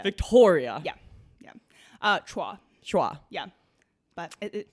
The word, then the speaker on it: Victoria: Yes, it's Victoria. Yeah. And but it's a hard O. Victoria. Victoria.